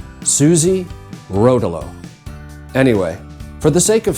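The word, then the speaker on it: Suze Rotolo: know about you but I have never really known how to pronounce her name I have heard every possible iteration Susie Rolo Sue Rolo I really don't know so I did what everyone does these days and I asked ai ai cited her New York Times obituary where it was stated that she pronounced it Suzie Rolo anyway for the sake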